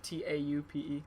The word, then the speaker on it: taupe: off white to yeah is that how you say it yeah like top or is it taupe maybe taupe maybe it can't be top it can't be like looking back it can't be top no oh Bo in retrospect